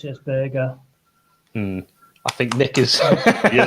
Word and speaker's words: Berge: I pronounce it as Burger.